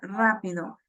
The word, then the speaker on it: rápido: Entonces, al momento que yo lo pronuncio, puedo notar muy rápidamente que, que en la A de la palabra rápido hay mayor fuerza en esa vocal y en esa sílaba.